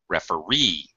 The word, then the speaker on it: referee: uh referee pioneer okay actually the primary stress is on the e sound referee pioneer 17 doesn't always